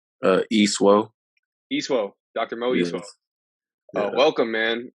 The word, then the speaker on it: Isuo: how do you say your last name uh e suo easter doctor mo welcome man uh you know